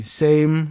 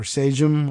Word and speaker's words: Sejm: The Sejm, or Sejm, or however they would pronounce it, scrapped it, by the way, in 1791.